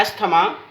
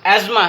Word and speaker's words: asthma: 10th biology में आज हमारा लेक्चर है एज़मा। इस वर्ड को एस्थमा लिखा जाता है और बहुत सारे लोग रॉन्गली इसको प्रोनाउंस करते हैं एस्थमा। इसकी सही प्रोनाउंसिएशन एज़मा है और जिस पेशेंट को